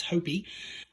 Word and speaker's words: Hopey: I know how to pronounce it because I've talked to you before. It's Hopey.